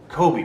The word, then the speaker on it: Kobe: running through my head Kobe with the long o sound and the extended EE sound at the end Kobe fans know what